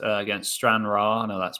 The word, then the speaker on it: Stranraer: And this one here, so Stenhouse Muir, is it pronounced? Against Stranraer.